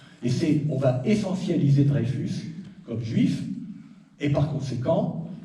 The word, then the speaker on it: Dreyfus: sorte le Juif modèle certains affecteront d'ailleurs de ne pas prononcer drefus mais drafus hein pour bien faire sentir que il peut pas être français et le scandale c'est